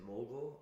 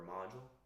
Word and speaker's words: Mogul: Is it mogul or module? Mogul. Mogul.